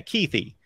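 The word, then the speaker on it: Kuithe: So there is an E at the end. Yeah, Keithy.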